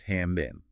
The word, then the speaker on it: how much: Okay, so the first one is how much pronounced hamin.